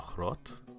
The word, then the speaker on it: Zochrot: Armada ethical body a staff member of the throat and I'll spell that out for you that's Z OC h